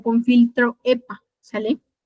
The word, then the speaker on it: HEPA: Recuerden que es una campana de bioseguridad o con filtro EPA, ¿sale? EPA significa, se escribe HEPA, lentes de seguridad, mascarilla,